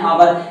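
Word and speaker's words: hour: लगा देंगे फॉर एन आवर एन क्यों आया है ए क्यों नहीं आया भैया एन इस वजह से आया क्योंकि आवर में जो साइलेंट यहां पर मतलब एच साइलेंट है तो आवाज जो निकल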